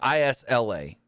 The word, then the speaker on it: Isla: And dumbass Michael Cole, because her name is spelled I-L-S-A or I-S-L-A. Yeah. I-S-L-A. Isla.